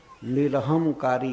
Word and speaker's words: निरहंकार: इस और भगवान को निरहंकारी कहा गया, निरहंकार। आजकल इस शब्द का लोग बहुत गलत उच्चारण करते हैं। वास्तव में पंजाब में सिख संप्रदाय में भी श्री भगवान को निरहंकार कहा जाता है।